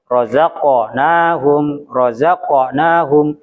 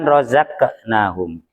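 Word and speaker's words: رزقناهم: Razaqnahum bukan rozaknahum.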